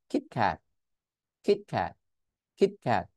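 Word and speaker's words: Kit Kat: ক্যাট কিট ক্যাট বাট যদি আমি টি টাকে স্টপ করে দিই তাহলে কিরকম শোনাবে কিট ক্যাট কিট ক্যাট কিট ক্যাট তার মানে টি পাচ্ছেন না আপনি কি ক্যাট কিট ক্যাট মানে আমি টি টাকে উচ্চারণ করি নাই জিনিসটা কি বুঝতে পারছি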